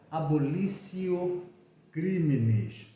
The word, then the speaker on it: abolitio criminis: traz aquele Instituto chamado conhecido como abolício criminis se escreve abolitio crimes é você abolir o